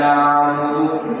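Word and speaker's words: نَعْبُدُ: Oleh karena itu, hati-hati ketika membaca kalimat na'budu jangan tertukar dengan ain e hamzah na hamzah itu ketika baca perlahan suaranya nab ini ee kalimat nabung.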